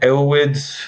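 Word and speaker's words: Erowid: those years, the kind of there was like Elwid. Is that how you say it? That website with all the like trip. Arrowwood, yeah.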